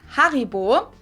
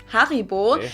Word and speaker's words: Haribo: harryo is actually German we pronounce it Haribo Haribo and again the name